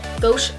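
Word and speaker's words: Gosh: Gauche Prime and Set, and that's how you say it.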